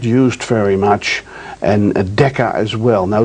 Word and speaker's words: mu: symbol you see over there is mu is pronounced mu and then melee we're all familiar with that's